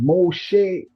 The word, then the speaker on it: Moshe: Moses and the Hebrew pronunciation. Moshe, thanks for tuning in and being a part of this live presentation.